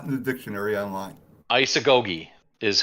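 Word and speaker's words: Isagoge: up and it's not in the dictionary online isagogi is how it's pronounced it's a goldie or isagogi yup and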